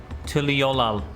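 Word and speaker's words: Tuliyollal: Tuliolal.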